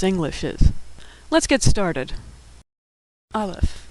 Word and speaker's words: aleph: Aleph, which is silent, or some would say makes the sound before the A in apple.